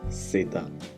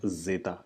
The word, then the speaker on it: zeta: as in Spanish III the last one folks is SATA which is which has a sound of sir-sir and not Zeta it is sit down